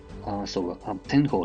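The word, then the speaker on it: 天鳳: It is called Tenho, but it is spelled differently. It is spelled 10. Tenho. The pronunciation is the same, but of course this is different.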